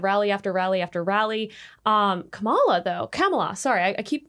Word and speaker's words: Kamala: Kamala, sorry, I keep pronouncing her name wrong. Kamala, she is 102 days in, like 102 days.